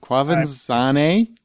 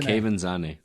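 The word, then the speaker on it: Quvenzhané: Quavanzane? No. How do you say it? Kevin Zane.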